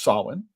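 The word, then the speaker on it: Samhain: traces back to the ancient Celtic festival of Sin. I know it's pronounced I know it's spelled S A M H A I N but it is pronounced Sin.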